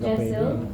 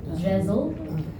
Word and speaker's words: Jesyl: My name is Jessel or as my Australian colleagues like to pronounce it, Jezel.